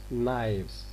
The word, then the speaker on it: knives: So this f is going to be changed into its voiced counterpart. It becomes knives.